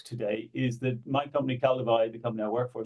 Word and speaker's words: Kaldewei: you pronounce it Paul C it's CI yeah CI yeah true because it's it's a German brand so I will go